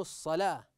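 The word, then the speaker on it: الصلاة: انها بجانبه انظروا احسنتم نجد ان هذه الالف فوق الواو لهذا لا ناتي ولا ننطق هذه الواو فكيف تقرا هذه الكلمه واقيموا الصلاه فلا مكان للواو هنا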